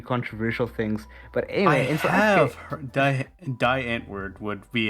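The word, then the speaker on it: Die Antwoord: with a few controversial things but anyway and die ant word would be how we pronounce it over here because we don't know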